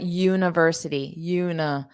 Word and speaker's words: university: He's studying history at university. So this I in university, we pronounce it as the schwa.